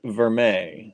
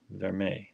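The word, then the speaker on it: vermeil: me that right and it's not spell anything like you think it's spelled v e r m e i l right it looks like ril ver it's French I know but it looks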